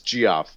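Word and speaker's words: Geoff: yes it's not even he doesn't pronounce a Jeff it's gee-off um alright see so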